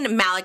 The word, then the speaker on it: Malec: your last name is how do you say Malik Malik yeah like Ramy Malik like Z Malik I